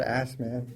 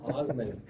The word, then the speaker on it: Assman: It's like a German last name, but it's spelled Assman.